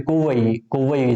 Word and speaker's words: Kovai: Okay, Kovai is the correct pronunciation.